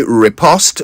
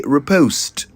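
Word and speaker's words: riposte: o s t repost it's worth mentioning that the English say repost but the Americans say repost and as I always remind you the national language of Ghana is English not American so we are going to say repost a repost is a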